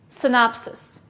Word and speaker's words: synopsis: p s i s where's the stress listen synopsis yes it's on the second syllable what part of speech